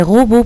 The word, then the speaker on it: robots: Puis nous avons la dernière phrase, les robots portent de beaux habits. Nous avons robot qui s'écrit avec un TS, mais ces 2 lettres ne se prononcent pas.